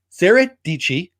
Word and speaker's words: Deichi: like who that is rhymes with peachy sarah deichi rhymes with peach used